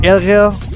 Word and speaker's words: ärgert: Es este fenómeno de la gramática, de la escritura, llamado A umlaut o A con diéresis, que suena como la E en español. De haber, ärger den Fisch im Fluss.